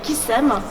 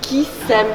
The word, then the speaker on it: Kissem: créée, cosmétique, qui s'appelle Kissem, qui s'écrit Kiss comme le bisou -M, mais qui se lit aussi Kissem, de s'aimer.